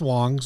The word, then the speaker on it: Wangs: It's pronounced Wangs, Ryan.